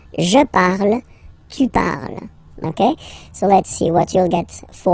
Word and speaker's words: parles: So you've got the two first forms, you pronounce them the same way. You write them differently, of course, because you get here, and then you've got and s, okay, but then phonetically, they are the same.